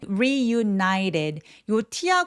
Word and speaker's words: reunited: 여기 발음이 좀 어려운 이유는 reunited.요 t가 계속 모음 사이에 끼어 있습니다. 그러면 사o운드라고 굴러가는 소리가 나는데요. 바로 water butter 할 때랑 똑같아요.